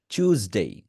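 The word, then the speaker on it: Tuesday: উচ্চারণ করার number one চুইঙ্গামের চু সাউন্ডটা করতে হবে আগে চুইঙ্গামের কি সাউন্ড আছে চু এই চু সাউন্ডটা করবেন তারপরে জ এটাকে মোটা ভাবে করবেন একটা মোটা সাউন্ড করতে হবে চুজডে চু চু চুজডে উচ্চারণ করেন চুজ মানে চ এর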